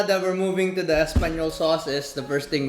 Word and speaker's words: espagnole: All right, the way you spell it is espagnole and the way it's pronounced is espagnole.